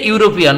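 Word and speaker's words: European: এম অর্থাৎ ভাওয়ালের মতো টান এসেছে প্রথম লেটারটির উচ্চারণ করতে, বিধায় এন দিয়েছি। তারপর সি নম্বরে এ ইউরোপিয়ান, বলুন তো কেন, ওই যে ইউনিভার্সিটিতে যেভাবে ইউ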